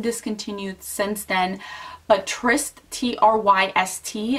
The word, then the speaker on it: Tryst: But Tryst, T-R-Y-S-T, I think that's how you say it, Tryst, was one of my favorite.